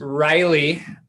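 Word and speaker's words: Ryleigh: Her name is Riley, which is spelled R-Y-L-E-I-G-H, which is the street we live on.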